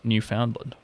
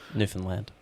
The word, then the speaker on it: Newfoundland: This is in September 2015 in uh international tournament in Paradise, Newf Foundland. Newfoundland. Newfoundland. See, Ben gets his chance to correct pronunciation.